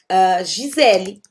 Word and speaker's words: Gisele: Um exemplo clássico que pode acontecer isso é o caso de palavras como Gisele, meu nome, ok? Eu escrevi com um E, mas eu vou pronunciar I, porque está no final da palavra, ok?